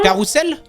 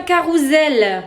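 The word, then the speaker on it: carrousel: Carousselle. Ouais carousselle. Mais le S il est entre de voyell et alors donc c'est un carousel.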